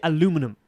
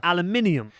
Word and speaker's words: aluminium: You say aluminum. Yeah. The language you're speaking is English. It comes from England. They say aluminium.